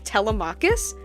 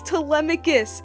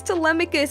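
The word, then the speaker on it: Telemachus: person in the video kept pronouncing his name as Telus and that just like frustrated me the whole I'm like it's telemus it's telemus it's telemarketing it's telen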